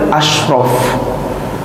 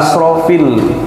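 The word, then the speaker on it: أشرف: Jangan dibaca ala asrafil anbiya'i wal mursalin. Jadi berubah itu. Kalau tadi ada shinnya, seringnya MC saya perhatiin kadang-kadang bacanya bukan asyrafil anbiya. Kalau asyrafil anbiya kan ala asyrafil anbiya. Salawat dan salam kita curahkan kepada manusia yang paling mulia, asyraf. Tapi dibacanya pakai sin biasa. Salawat dan salam tercurah kepada ala asrafil anbiya. Kalau asrafil anbiya itu manusia paling boros.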